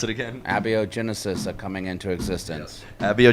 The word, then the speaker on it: Abiogenesis: had to correct me on how did you pronounce it again a bo genesis that coming into existence bo Genesis are coming